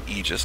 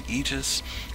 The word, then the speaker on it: Aegis: is called the egis I'm going to say egis because that's supposed to be the correct pronunciation uh it's sped a e is the egis uh well actually the one I have right